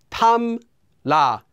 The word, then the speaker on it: 탐라: Anytime the first syllable ends with the consonants 이응 or 미음, those two, and the second syllable begins with the consonant 릴, well, that 릴 will become pronounced as 니은.